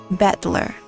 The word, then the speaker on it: Battler: Japanese pronunciation so far the problem is my name is made up of the characters for fight and person and it's pronounced battler really then I wonder